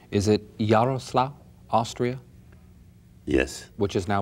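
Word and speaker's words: Jarosław: I must ask you for the correct pronunciation. Is it Yaroslav, Austria?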